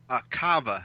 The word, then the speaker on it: Kava: Hey, Phil, is your family name pronounced Kava or Kava? Kava, actually.